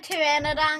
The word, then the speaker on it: pteranodon: can't you hear a pteranodon go to the back oh no thomas please not this one please i don't want to hear it because that pee is silent the dead if you're